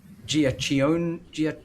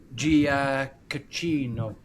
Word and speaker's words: Giacchino: They've even got the same music because it's Michael Giacchione. I've absolutely butchered his name. I have it down here. Michael... What, composing? Giacchino. Yeah. Who does the Batman as well. And I still butchered it again.